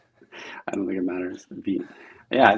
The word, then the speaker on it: Vite: it is Veet. Wow. Veet like feet.